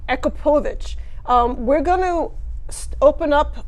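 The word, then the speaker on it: Akrapovič: So you've got, how do you pronounce this again? Akrapovic. Akrapovic.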